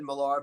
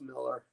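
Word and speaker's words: Millar: Dave, you always tell me I pronounce it I know I've said Malar but it's Miller.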